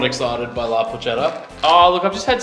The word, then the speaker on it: La Porchetta: Gonna jump in real quick, La Porchetta. Yeah, La Porchetta, sure. Sorry, it's a hard C.